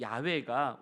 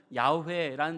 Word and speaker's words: 야훼: 그런데 학자들은요, 이 야훼가 원래 발음에 가깝다고도 밝힙니다.